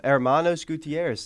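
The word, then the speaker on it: Hermanos Gutiérrez: this week too we're back with with uh Hermanos Gutierrez the duo from uh the it is no Hermanos Gutierrez that's how you pronounce that's not how you said it the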